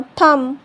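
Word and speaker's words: thumb: B silent तब होता है जब बी से पहले एम आता है तो बी साइलेंट होता है।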